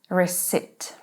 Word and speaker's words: receipt: Receipt. P is silent.